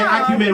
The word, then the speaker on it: acumen: And by the way, acumen rhymes with semen, sorry.